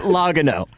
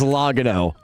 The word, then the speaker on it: Logano: Logano. I don't I don't I don't know racing to save my life, but I definitely know it's not pronounced logo.